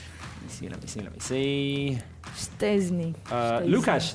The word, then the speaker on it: Szczęsny: have given us a rating for how we pronounced our goalkeeper's name. Let me see. Szczęsny.